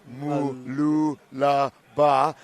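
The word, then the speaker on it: Mooloolaba: 6, it's pronounced Mululaba. Try say it fast. Mululaba. And Vitória Va'a from Brazil in lane 8. Sorry, 7. Malulaba.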